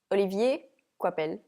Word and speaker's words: Olivier Coipel: Okay, I would say it just Olivier Coipel.